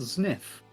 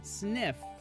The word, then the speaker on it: Zniw: Oh yes, ZNIW, the name of the main character of this game, is pronounced Sniff. Oh, I've been saying it wrong the whole time. Sniff. Like sniff, but with a Z?